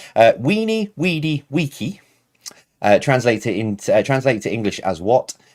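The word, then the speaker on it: veni, vidi, vici: Now I've got the correct pronunciation from the patrons in the Discord server. Weenie, weedy, weeky.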